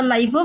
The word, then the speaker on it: LIFO: You can say, pronounce anyway LIFO or LIFO, one and the same only.